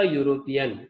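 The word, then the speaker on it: European: ही इज अ यूरोपियन, again consonant sound है यहाँ पे, ओके, ई से शुरू हो रहा है लेकिन साउंड इसका कंसोनेंट है, दैट्स व्हाई और यहाँ पे आर्टिकल यूज किया गया है।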